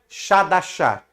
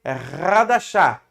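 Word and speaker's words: חדשה: Quando é CH, nós não lê Shah, então não é Shadashah. Aqui se lê Hadashah, porque esse Shadashah é o Resh, que se escreve com CH, mas se lê com 2 R's. Então é Hadashah, Brit Hadashah, tá?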